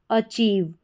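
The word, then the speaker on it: achieve: ए को हमने अ पढ़ा, ठीक है, CH को च पढ़ा जाता है। तो ये भी आपको ध्यान रखना है, ए को अ, CH को च। तो च में ईव जुड़ गया तो चीव बन गया। तो पूरी स्पेलिंग हमारी क्या बन जाती है, अ, फिर है चीव, अचीव।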